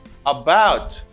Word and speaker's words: about: It's about. About. It's a schwa sound.